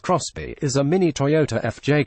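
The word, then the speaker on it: XBEE: and lots of space the xB pronounced cross B is a mini toyota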